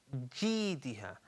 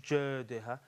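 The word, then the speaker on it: جِيدِهَا: And then right at the end we have Fi Jidiha. Okay, so not Jadiha or Diha, Diha, Fi Jidiha.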